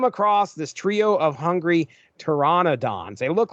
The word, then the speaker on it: Pteranodon: reading this book and I'm saying pteranodons. That is not correct. It is Tyrannodons. There's an N-O in there I was completely missing. But anyway, they come across this trio of hungry Tyrannodons.